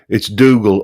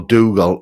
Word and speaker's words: Dougal: Being Scottish, I'd like everyone to know it's Dougal or Dougal. No other combinations are accepted.